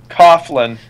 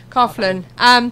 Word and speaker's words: Coughlin: Effects specialist Larry Coughlin, is that? What? How do you pronounce his name? Coughlin. Coughlin. Like coughing.